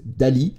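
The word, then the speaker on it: DALL·E: recherches sur le web l'option suivante se prononce Dali comme le peintre et c'est le générateur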